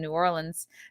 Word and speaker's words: New Orleans: comedy house out in new orleans new orleans i was told is the way to pronounce it so that will be